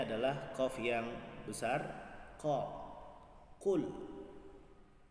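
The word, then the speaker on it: قل: Banyak di antara saudara-saudara kita yang membaca dengan mudah saja dengan membaca kul. Kalau kita baca huruf kul, hurufnya seperti ini. Sementara tulisan dalam Al-Quran bacanya adalah qul. Jadi bedakan antara qaf dengan kaf.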